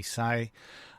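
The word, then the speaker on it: Hsieh: who founded Tony Sai I think you pronounce his name Tony sayi um and he wrote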